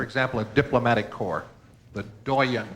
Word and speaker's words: doyen: a diplomatic corps the doyan this must come from French considering the last pronunciation French cuz this one's as good as spelled doen or d o y e n Oh, what?